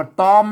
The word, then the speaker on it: ตอม: ภาษา ณา อ่าน ว่า ตอม นะ ครับ เสียง สัญ เ อัน นี้ หร อ่าน ว่า ตอม อ่าน ว่า ตอม ไม่ ใช่ ทอม นะ อ่า ว่า ต้อม นะ